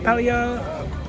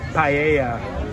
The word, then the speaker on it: paella: We got some pinchos, some pelia. P. No. What? How do you How do you pronounce that? I'm gonna have to remember how to pronounce that. Paella kadoso right there.